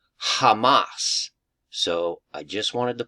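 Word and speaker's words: חמס: Hebrew word h 2555 and it literally is pronounced Hamas so I just wanted to point that out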